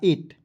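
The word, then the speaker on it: eight: यहां पे मैं लिख रहा हूं ई ए आई जी एस टी। तो इसे इ को ए पढ़ते हैं। ठीक है जी? और आई जी एस टी का उच्चारण ट के रूप में कीजिएगा। हो जाएगा एट।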